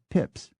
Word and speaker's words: Pepys: Some members of the Pepys family pronounce it Pepys, as the great diarist Samuel Pepys did, but others say Pepys, and still others say Pips.